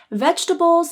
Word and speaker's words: vegetables: So for you to sound the most natural, you should pronounce it as 3 syllables, vegetables. The first syllable is veg, and this receives the primary stress.